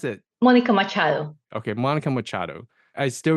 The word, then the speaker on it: Machado: job than I could so how do you pronounce it Monica Machado okay Monica Machado I still remember your last